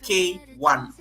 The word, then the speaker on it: K1: It's not Kayone. It is K1.